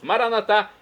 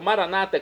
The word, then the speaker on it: Maranata: E agora eu clamo do aramaico, dialeto de Jesus, Maranatá, como dizemos nós católicos, ou maranata, como dizem nossos irmãos separados das comunidades evangélicas ou protestantes. Não importa a pronúncia, o significado é o mesmo. Vinde, Senhor Jesus, um dia